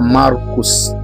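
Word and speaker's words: Marcus: Jina la Marko kwa Kigereki tunaita Markos na kwa kilatini inatamkwa Markus.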